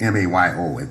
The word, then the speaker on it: Mayo: Yeah, the Mayo study is M-A-Y-O. It's as though it should be pronounced Mayo.